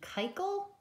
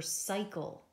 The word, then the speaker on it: cycle: What color do you think? Blue for soft C. If we did red, we would be saying that it said kikel. Kikel is not a word, but cycle, well, that is a word.